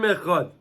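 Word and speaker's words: אחד: We have to be marich with the Dalit of Echad. We say Echad. You always pronounce the Dalit.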